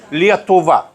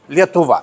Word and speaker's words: Lietuva: We called it Lietuva. Lietuva, it's simple. Lithuania, it's English, it's not so good.